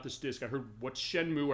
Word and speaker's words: Shenmue: I heard what's Shenmue, or I thought it was Shenmue as far as the pronunciation of Japanese. It's like, I didn't know the E was silent at the end of this.